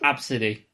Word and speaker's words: Abcde: Oh, it's supposed to be pronounced Absidy.